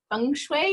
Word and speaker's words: feng shui: When you're writing to feng shui your soul.